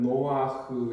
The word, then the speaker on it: 노아흐: 그래서 원래 이름 발음을 따라하자면 노아흐 이렇게 부릅니다.